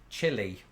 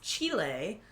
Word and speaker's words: Chile: And speaking of Spanish, I used to pronounce this chili. And I think most people in Britain do, but Chile? I've since evolved my pronunciation because of this one. Well, it's Chile. Chile. Because it's the place, Chile.